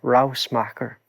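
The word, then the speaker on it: Ruismaker: this into this instance of what's the correct pronunciation of this rouse macker yeah rouse marker it means noise maker in dutch harald smacker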